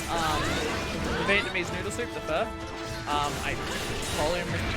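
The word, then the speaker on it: phở: Everyone says pho, and I know it's not pho. It's like you pronounce it like how you pronounce F-E-R-R, but I just don't know whether I'm pronouncing that right.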